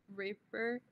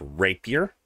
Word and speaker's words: rapier: rope with her U Raper it uh it's pronounced Rapier not not to get confused with people who should be in prison oh my God Savage